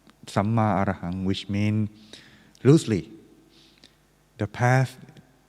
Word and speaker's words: Samma Arahang: It pronounced Samma Arahang, which means loosely the path of purity and freedom from the negative thought or negative thing.